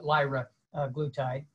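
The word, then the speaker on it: liraglutide: glutathi i actually had to learn how to pronounce uh lyra glutide uh and found that uh it promotes um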